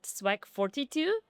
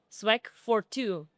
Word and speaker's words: SWAG42: Sw9 I don't know so actually we pronounce is not Swack 42 Swag for two so swag is always